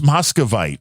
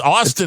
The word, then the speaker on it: austinite: have to tell you it starts with an A not an M Oh I thought it was mosite it's austinite austinite you keep mispronouncing